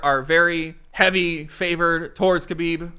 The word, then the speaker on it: Khabib: very heavy favored towards khabib or habiba as some people have told me the K is silent and I think this